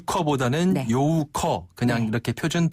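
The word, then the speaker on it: 游客: 요크 정확한 발음은 요고요 유라는 발음은 잘못된 발음입니다 사실상 한자를 그대로 읽은 그런 표현이라고 볼 수 있죠네 커보 요우커 그냥 이렇게 표준 발음을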